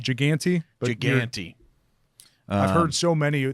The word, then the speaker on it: Giganti: Giganti? Giganti.